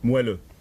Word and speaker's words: moelleux: Can you pronounce that, Monsieur Gruy? Moelleux.